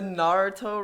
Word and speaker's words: Naruto: the I don't know Nataro about run? that. I No, don't know about that. the Nataro run. The Naruto run.